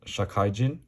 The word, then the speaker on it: 社怪人: This is a chapter that I believe is pronounced Shakaijin, which normally means like a working person, salaryman type of thing.